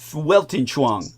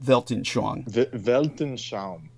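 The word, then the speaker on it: Weltanschauung: any evidence fco's welang am I pronouncing that correct in the German the worldview welon Chong or is that Velton chongon thank you his Velton Chong argues that history is sh sh sh Velton I have to do the German thing in correct your pronunciation sh there you go that's much better Velton sh yes yes okay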